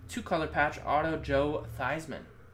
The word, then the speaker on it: Theismann: color patch Auto Joe Theismann formerly thieves Minh but I already changed his name pronunciation of the name to rhyme with Heisman to help his Heisman campaign at Notre Dame little fun fact 14